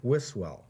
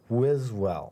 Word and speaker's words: Wiswell: i've said is wiswell right right and it's pronounced with a z wizwell right i will never